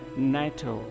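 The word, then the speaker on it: NATO: Organisation, तो ये जो नाटो है ये एक एब्रीविएशन है और इससे पहले जो है आर्टिकल का प्रयोग नहीं होगा और इसका प्रोनाउंसिएशन रहेगा नाटो।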